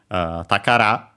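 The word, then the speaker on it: 宝: Technically has a strictly Japanese reading takara, accent on the last syllable, which means treasure.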